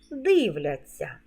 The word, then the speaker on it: дивляться: форму наступна порада мудроїсовий у дієсловах на ця завжди пишемо знак м'якшення і вимовляємо ться як ця м'який подовжений звук дивляться а у дієсловах на шся